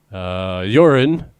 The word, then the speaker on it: Joren: I have never heard someone say my name in English, so good luck. It's Joren with no additional dots or curvy little bits to indicate things. No reason that I shouldn't say Joran, but for some reason,